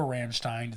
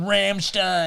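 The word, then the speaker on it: Rammstein: perform it say we're Ramstein they'll be so into the cause they will not sue us yeah they'll give us their blessing yeah we just do the opposite the Steen or Stein pronunciation and then only one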